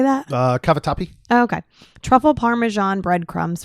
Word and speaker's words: Cavatappi: Cavatappi.